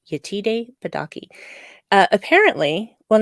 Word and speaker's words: Yetide Badaki: her terrific yeah yeah donkey badaki I gotta say her name right yetide badaki uh apparently well not